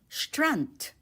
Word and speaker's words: Strand: Take note the d at the end of the word strut is pronounced as t. So you'd say str along the beach. Um strunt.